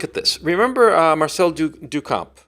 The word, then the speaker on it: Duchamp: Remember, uh, Marcel Dukamp, how do you pronounce his name? Duchamp. Duchamp.